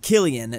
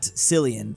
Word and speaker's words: Cillian: People having a meltdown about Cillian Murphy's name being pronounced Killian, not Cillian.